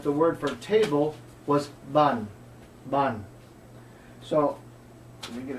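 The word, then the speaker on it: bàn: So the misunderstanding was his voice was going up, ban, and that has a different meaning altogether. So if someone is trying to teach you Vietnamese, don't ask them if you're saying it correctly by making your voice go up. If they say, repeat after me, ban, say, ban. Cái này ban. This is a table.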